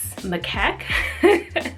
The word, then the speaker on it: macaque: different animals that eventually landed on the Japanese macaque that's how you pronounce it they're the snow monkeys the ones